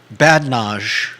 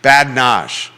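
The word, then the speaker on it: badinage: bad Dash no I you don't pronounce the I so a bubbling brook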